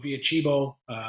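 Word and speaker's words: Via Cibo: Yolks, and then the one I can never pronounce, Via Chibo. Via Chibo, you did it right.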